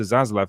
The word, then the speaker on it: Zaslav: Zaslav?